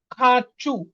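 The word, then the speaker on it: хочу: এখানে আছে ইয়া খাচু খাচু এটার উচ্চারণ কি খা এটার উচ্চারণ আর মতন হয়ে যাবে যেহেতু চু চুর উপরে আমাদের কি পড়তেছে স্ট্রেস পড়তেছে দেখেন খাচু চু লাস্টে চুর উপরে পরে কি স্ট্রেস তার মানে কি আমাদের ওটা আর মতন উচ্চারণ হবে তার মানে কি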